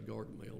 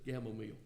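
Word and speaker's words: Gamaliel: I want to say Gargamel, and that ain't his. It's Gamamil. But you can tell I was raised during the era of Smurfs.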